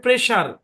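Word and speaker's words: pressure: কোন ব্যাখ্যা নাই এগুলা কোন ব্যাখ্যা নাই ভাই উচ্চারণ হচ্ছে প্রেসার প্রেসার মানে কি প্রেসার মানে হচ্ছে চাপ প্রেসার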